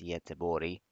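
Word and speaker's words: Göteborg: our way to Gothenburg which I'm embarrassed to admit as completely butchered pronunciation it's yet to body so yeah first stop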